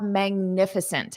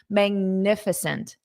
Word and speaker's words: magnificent: and now we have magnificent everyone repeat after me magnificent magificent magnificent magnificent so notice that syllable stress magnificent all right okay so